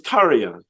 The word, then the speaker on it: Tarja: is her you spoke to that's neat it's tarya okay Taria yeah she was a pleasure to